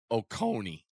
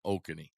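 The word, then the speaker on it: Oconee: it wrong before and Coach Don told me the right way to say it North okone not oky North okone yeah it's ok it's okone okone yeah uh got a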